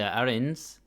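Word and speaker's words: Arinsu: turns out his sister Arin I keep saying aru but I think you're not me to pronounce the U so his sister Arin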